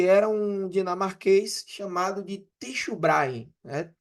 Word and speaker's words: Tycho Brahe: um dinamarquês chamado de Tycho Brahe, né? Tycho Brahe, a gente pronuncia, alguns pronunciam Tico, Tycho Brahe, Tycho Brahe, enfim,